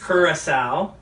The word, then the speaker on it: Curaçao: Blue tasty Curaçao is how you actually pronounce it.